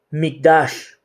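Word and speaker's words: מקדש: La palabra hebrea que se traduce santuario es Mikdash, ¿verdad? Y se escribe M-I-Q-D-A-S-H, que significa lugar santo, apartado o consagrado.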